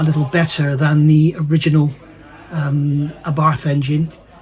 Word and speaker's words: Abarth: So I'm going back to saying Abarth because I was told by Gabrielle that Abarth is actually wrong. So there we go. Apparently they say Abarth. They sort of pronounce the arth is arth.